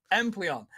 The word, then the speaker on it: Empoleon: Bro, can I not pronounce that? Empleon. According to production.